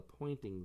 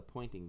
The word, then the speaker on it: Poynting: called the pointing Vector spelled with a Y it points in the direction of the flow of energy I used to think it was like Po NT because it pointed but actually pointing is someone's name so this